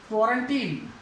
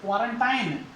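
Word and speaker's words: quarantine: और इस कोरोना के साथ में ही एक शब्द हमने खूब सुना है, क्वारंटीन, क्वारंटीन, क्वारंटाइन, क्वारंटाइन भी सुना होगा आपने इसका, लेकिन सही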